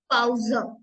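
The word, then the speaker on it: Pause: डैड अब आता है पी पी को हम प्रोनाउंस करेंगे पे पे लाक पाउज पाउज means break break next है क नॉट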